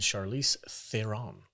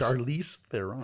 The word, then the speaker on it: Charlize Theron: Mad Max Fury Road, starring Tom Hardy and Charlize Theron.